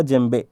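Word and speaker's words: djembe: जेम्बे बोलते हैं, लेकिन देखो शुरू हो रहा है डीजे से, है ना, डीजे से। तो बता दो, जेम्बे का स्पेलिंग ये है, करेक्ट है, ठीक है, मैं अपने आप से नहीं लिखा हूँ, जेम्बे ही पढ़ते हैं इसको।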